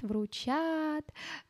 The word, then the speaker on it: вручат: ещё щемить тоже ить у нас обычно ударение и остаётся там сзади остаётся на последнем а слоге нашего слова да Именно поэтому включат вручат э там включит и